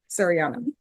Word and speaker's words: Seriana: Serini, how do you pronounce it? Shadiana? Sariana. You got it.